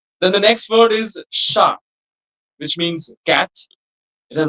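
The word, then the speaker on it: chat: So it's sha. So like if I want to say a cat, it will be a sha because the word sha is masculine not sha.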